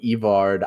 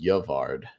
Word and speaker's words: Yvard: It was Yvard, Evard, Ivard. Like we and I think we all settled on Yvard, but yeah, there was tons of different ways it could have been pronounced.